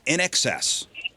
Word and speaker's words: INXS: Now, In Excess is spelled INXS. Now, if you didn't grow up seeing that iconic, MTV logo, a teenager's default setting is to read it like a single word.